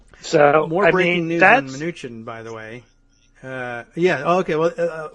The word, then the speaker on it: Mnuchin: In other Steve Mnuchin news, and I understand that the pronunciation is Mnuchin, so I've nicknamed him Dim.